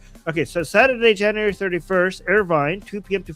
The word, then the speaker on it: Irvine: Uh, oh my god, the city is Arvin. Arvin Arvin, right? Did I pronounce it right? LA. Irvine. Uh, this Irvine. I always pronounce this wrong.